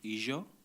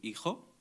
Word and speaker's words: hijo: For example, in one of the varieties, they would say Ijo. In other varieties, they would say Fijo. In Morocco, they would say Hijo.